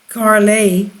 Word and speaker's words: Kale: 40 years in 2016 kale pronounced carlay was among the first